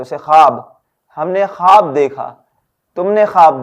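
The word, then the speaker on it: خواب: please आप focus करें खे वाव अलिफ खा का साउंड होगा ना कि ख्वा का खा हर खवाब तख्ते ख्वाब अब यहां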